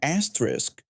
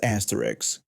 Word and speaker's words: asterisk: I told him he meant asterisk, not asterisks. He stopped pacing and stared at me like I had just suggested the earth was flat. He insisted it was asterisk with an risk sound at the end and explained it was a little star in case I didn't know what it was. I corrected him again saying it was asterisk with a risk sound and a K at the end.